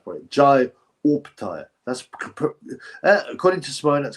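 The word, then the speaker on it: Opetaia: I've got to pronounce it. Jai Opataya.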